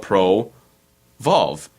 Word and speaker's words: ProVolve: I'm like how about Pro valve at first it was Pro evolve but that sounded kind of silly Pro evolve it's like an extra syllable yeah so I I dropped the E and I was like